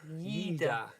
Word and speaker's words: Lleida: How was it pronounced again? Lleida.